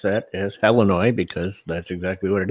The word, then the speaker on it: Illinois: my former state of Illinois and yes I pronounce that as Illinois because that's exactly what it is there used